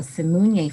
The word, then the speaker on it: Simunye: Yes, the name of the foundation that I founded is called the Simunye Foundation.